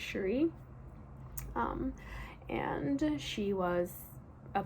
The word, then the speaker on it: Cherie: to be Sherry shurifet I think you pronounce her name Cherie it reads like Cherry but I'm pretty sure it's shuri um and she was